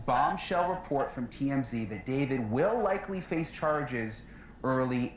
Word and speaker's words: D4VD: It's pronounced David, but it's spelled with a 4.